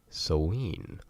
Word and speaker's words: Samhain: Halloween without talking about so lean or as it's spelt Samhain now a lot of people don't know exactly how to say it it is an old gaelic word so there's a lot of different ways to say it depending on the part of the dialect that is being spoken at the time